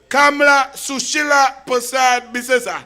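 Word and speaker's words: Kamla Persad-Bissessar: in the tournament of Kamla Sushila Prasad Bisesa. You were not saying it right. It's Kamla Sushila Prasad Bisesa. That's how we just say it in the parliament and thing, yeah.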